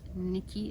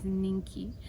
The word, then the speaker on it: Ninky: if any new subscribers my name is not Nikki it's ninky I know some people you know get a bit confused with how to pronounce my name but it's ninky and yeah just welcome